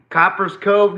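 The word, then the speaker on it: Copperas Cove: Jacob oh you graduated with uh RG3 interesting Copper's Cove native right there by the way uh and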